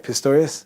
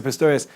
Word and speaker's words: Pistorius: Pistorius? Yeah? Oscar Pistorius.